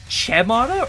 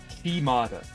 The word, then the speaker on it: Chimata: What, Chemata or is it Kemata? Che is in chair. Are you kidding me? There's no way that's how you pronounce that name. I believe you guys are lying to me. Chimata. Okay, that makes sense. I don't know why you put C-H-E. That makes it look like Che, not Chi.